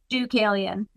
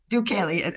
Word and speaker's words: Deucalion: Deucalion. Deucalion. Okay. Thank you so much. It's a name from Greek mythology, so I know it's a little bit hard to pronounce.